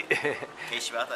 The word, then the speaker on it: Kei Shibata: Well, we are with Kei Shibata. I don't know if I pronounced it properly. Kei Shibata, yes.